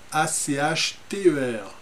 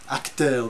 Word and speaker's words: Achter: Alors, Damien von Achter, A-C-H-T-E-R, Achter, des fois certains le prononcent comme ça, je ne sais pas si c'est les Wallons, les Flamands, mais je crois que vous avez droit aux deux.